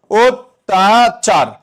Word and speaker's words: অত্যাচার: লক্ষ কর এই অ আছে পরবর্তী বর্ণে কি ফলা আছে? জফলা আছে তাহলে অ এর পরবর্তী বর্ণে যদি জফলা থাকে উচ্চারণে কি হয়ে যাবে ও হয়ে যাবে তাহলে লিখব ওতাচার যেভাবে বলবা সেভাবে আরচার